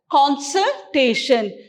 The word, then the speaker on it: consultation: this word has counsel but here it's consultation we stress this word here consult consultation consult you have consulted